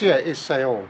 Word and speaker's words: Saône: It's Saône. Unfortunately, our pronunciation isn't great.